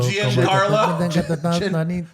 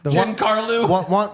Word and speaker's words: Giancarlo: Giancarlo. Juan Carlo.